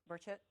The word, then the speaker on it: Burchett: Um, Representative uh Tim, I think it's pronounced Buret or Burchchett um from Tennessee. Yep. Burchette.